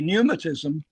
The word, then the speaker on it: pneumatism: And for the benefit of the viewers, so pneumatism it's like spelled like pneumonia, so it's an A and P, and so that's what we're saying.